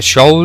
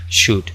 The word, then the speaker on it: should: No se dice show ni nada por el estilo, se dice should. La L no suena tampoco.